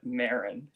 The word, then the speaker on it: Marin: Is it Myron? Is that how you say it? Is that correct? Oh, Marin. Marin.